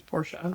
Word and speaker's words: Porsche: It's not pronounced Porsche, it's Porsche.